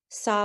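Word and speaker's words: Samhain: I actually know why they um pronounce it saw when it's because it comes from the Celtic and they pronounce their syllables and their consonants very different than ours perfect thank you she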